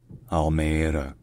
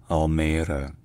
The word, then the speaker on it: Almere: and green spaces so in Dutch this city is called almea almea Al Al all right